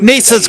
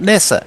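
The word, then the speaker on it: Neser: Um, you bonshi Nissa's got one S. So, he's Nissa, not Nessa.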